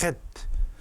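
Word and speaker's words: חית: 발음이 헷입니다. 헷. 독일어나 유럽의 언어에는 이런 발음이 있는데 우리말에는 없죠. 헷. 이 가래 끓는 소리 비슷한 거죠.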